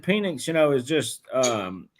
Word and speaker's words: Penix: not penix P No it's penix it's spelled penix look $100 $100 right now not Michael penis but it is Michael Michael penis it's Michael penix all right well listen